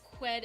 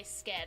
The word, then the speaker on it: sked: H because or or the SK in Swedish in some words because I had such a hard time trying to figure out how to say the the word spoon in Swedish it is it has SK quid it's quid in Swedish for spoon I kept wanting to say sked I was like no